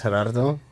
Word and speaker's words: Gerardo: Just if you can't roll your Rs just say G. That's really how it started. It's just like as growing up everybody would put an L in my name and it's like Oh yeah.